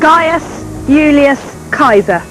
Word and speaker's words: Gaius Julius Caesar: And in fact, the way you pronounce his name is this: Gaius Julius Caesar.